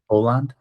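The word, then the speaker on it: Åland: from the Aland Islands, is that the right pronunciation? You know, that there's How is it? How do you say it? Aland.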